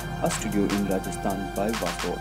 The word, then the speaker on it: Waswo: Waswo. It's pretty... Waswo. How do you say? Tongue twister? Waswo.